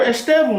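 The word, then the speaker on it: Estêvão: No, it's not, bro. Estevan, that's his name. I would know. It's actually my brethren, bro.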